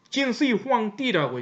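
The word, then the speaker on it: 진시황제: 동양에는 그보다 한참 뒤에 BC 3세기 221년 BC 221년에 누가 나타나냐면은 진시 황제, 진시 황띠라고 이제 발음을 하죠.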